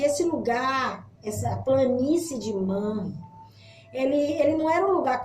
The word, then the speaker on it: Manre: Eu acho que a pronúncia é essa, Manre ou Manre, mas eu acredito que seja Manre.